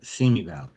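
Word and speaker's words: Simi Valley: Seami Valley.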